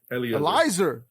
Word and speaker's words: Eleazar: Can we stop saying his name wrong? It's It's Ellesier. Elzar. Eleazar. It's got to be Elizer. Elizer. That's the right way.